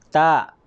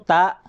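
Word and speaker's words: ط: Okay, para po makuha po natin ang tamang pagbigkas niya ay kinakailangan ibilog po natin yung ating bunganga, hindi ta. Kasi yung ta, yung buka kanina, yung alif, ba, ta, ganon. Pero ito po ay ta.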